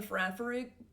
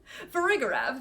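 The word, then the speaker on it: Farigiraf: I almost said it right. No, did I say it right? Farafrig? No, I definitely add. Has it always been spelled this way? Whoa! Okay, sorry. Farigarav, there we go.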